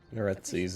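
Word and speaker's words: Neretzes: Netses is how it's pronounced.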